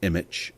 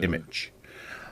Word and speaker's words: Immich: playing with um I'm I'm very much using image as one of my main uh Graphics or